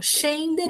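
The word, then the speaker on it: scendere: Chendere é um verbo. Shender é descer, OK?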